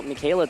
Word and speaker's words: Michele: some damage around and apologies for mispronouncing his name uh it is actually pronounced michaela so my apologies for that one as lunala is going